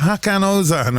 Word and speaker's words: Hakan Ozan: Ozan, Hakan, am I pronouncing that right? Hakan Ozan, all right? Yeah, exactly.